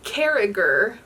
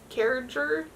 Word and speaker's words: Carriger: solas by gail carriger which i just realized like yesterday that i've been saying her last name wrong this entire time her name is gail carriger according to the audiobook